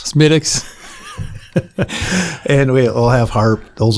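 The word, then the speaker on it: Smithwick's: And then I think as far as the beer goes, obviously regular Guinness Smidwix. Yeah, it's it's pronounced Smidix. Smidix.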